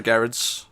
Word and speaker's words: Gerads: Gerads or Gerads? Is that a soft G or a hard G? I think it's Gerads. I'd say soft. Right, Gerads.